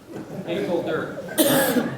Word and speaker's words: Engelder: So the way you pronounce my name is you say Engel, you think Rip, and Dirt. Engelder.